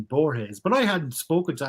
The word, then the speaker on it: Borges: jorge's and borge for years i said uh boars and then booktube come along and everyone's saying borges but i hadn't spoken to anyone pronouncing his